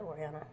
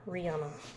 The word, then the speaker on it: Oriana: He said everything but Oriana. Or Rihanna. My name is Oriana. Oriana. Oriana. Not Ariana, not Ariana, not Ariana. Like, what? Not Loriana, not Coriana, because I get those too.